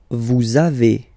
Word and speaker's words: vous avez: A little liaison, little link between the two, okay? Vous avez, all right?